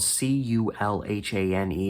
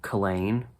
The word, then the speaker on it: Culhane: I'm guessing his last name was spelled C-U-L-H-A-N-E, and I'm guessing the H was silent. So Culhane. I should probably check. Okay. Everything I'm looking at is saying you do pronounce the H.